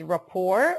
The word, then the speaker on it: rapport: The first one is rapport. Okay, the pronunciation is rapport. We do not pronounce the T.